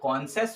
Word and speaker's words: conscious: हमारा जो पहला वर्ड होगा इसकी प्रोनाउंसिएशन जो होगी वो कॉन्सेस होगी, इस वाले वर्ड की जो पहले की है कि नहीं।